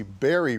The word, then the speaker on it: Barry: You see, Barry rhymes with Mary.